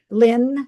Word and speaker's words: Lin: Little did she know that it it li- or did she think about it that it Lynn, spelled that way rhymes with win, though.